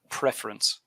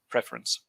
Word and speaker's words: preference: word is three syllables preference you're stressing you're pronouncing it with two syllables and you're stressing the last one but it's three syllables and you stress the first one so preference having said that you